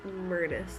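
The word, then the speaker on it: Myrtus: a weirdest virus communits murtis it's pronounced murders like a myrtle tree i think the thoughts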